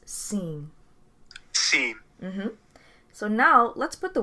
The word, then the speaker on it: sim: for yes in portuguese a simple yes will be seen is spelled s i m but the m becomes very soft when it's at the end of a word so it becomes seen so now let's put